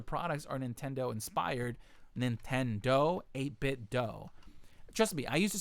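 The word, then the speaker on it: 8BitDo: Pete says it's pronounced 8-bit do. Yes. Do, like no. Scooby-Doo. So listen, I used to say 8-bit do. That's the proper way to say it. They say it themselves.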